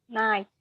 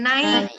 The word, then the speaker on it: night: sering salah juga nih Bagaimana pronounce-nya night night Iya night transcrip-nya gimana garis miring n a i t night night night Iya bukan naik ya tapi macam orang Sekadau